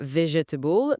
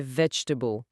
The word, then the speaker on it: vegetable: Et pas vegetable, mais vegetable.